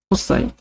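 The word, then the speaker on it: cosine: 얘는 뭐라고 부르냐면 코사인이라고 읽어요. 코사인. 코스 아닙니다. 코스 아니에요. 코사인이에요.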